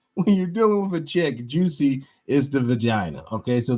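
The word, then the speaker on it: Jussie: a pseudo name that increases pronounced juice a juicy and he's now saying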